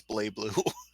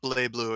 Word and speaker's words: BlazBlue: yeah blasts blue actually it's bleh Bloo if he listed the announcer later she they thought she doesn't even pronounce the Z it's not my problem it's just bleh Bloo it's my call to raid alien 51 words